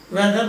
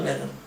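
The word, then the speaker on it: whether: എന്നുള്ള വെതർ ആണ് ഉപയോഗിക്കുന്നത് രണ്ടിന്റെയും പ്രൊനൗൻസിയേഷൻ ഉച്ചാരണം ഒരുപോലെ ഇരിക്കും വെതർ വെതർ പക്ഷേ ഒരു വെദറിന്റെ അർത്ഥം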